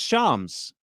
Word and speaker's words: Shams: His name is Shams. That's how you say his name.